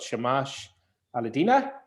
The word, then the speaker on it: Shamash Alidina: So we've got Elspeth Lewis with us, and we've got Shamash Alidina. I'm pronouncing that right, am I, Shamash? Yeah, you got it right.